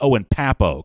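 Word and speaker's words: Owen Pappoe: be called he's correctness in the pronunciation here it's Owen Papo correct and I owe and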